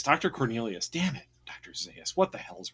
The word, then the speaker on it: Zaius: Zaius from Planet of the Apes.